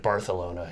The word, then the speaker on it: Barcelona: They pronounce it Barcelona. It's weird.